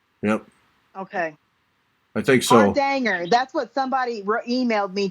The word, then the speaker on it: Hardanger: Hardanger. That's what somebody emailed me today, that I was saying it right and you were saying it wrong. Oh, it's not Hardanger? No, it's Hardanger.